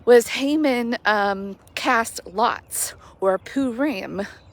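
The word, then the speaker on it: Purim: Haman cast lots or poo Ram poo Rim I think is how it's pronounced they cast lots and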